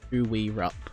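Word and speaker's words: Koo Wee Rup: We rep is a place and it's uh spelled K O O uh space W E space R U P who we rup.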